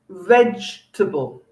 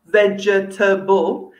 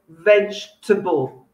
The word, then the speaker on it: vegetable: at the first one we have is vegetable not vegetable if you say vegetable you sound a bit like a robot so don't say that say vegetable the second e missing okay the next one